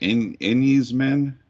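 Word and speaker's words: Enys Men: This is for, I'm probably going to pronounce it right, Enyes Men?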